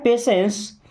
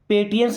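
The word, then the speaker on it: patience: Have पेशेंस। Have का मतलब कोई चीज अपने पास में रखना। ओके? पेशेंस। इसे पेटियंस नहीं पढ़ते। क्या पढ़ते हैं? पेशेंस।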